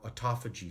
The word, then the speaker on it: autophagy: This is what's called autophagy. Auto or autophagy, some people pronounce.